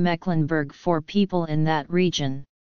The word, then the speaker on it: Mecklenburg: would pronounce it short the same applies to the e in the geographical name Mecklenburg for people in that